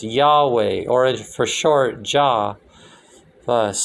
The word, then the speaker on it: Yahweh: that's what the cabal is about why HWH pronounced Yahweh orange for short jaw first so that you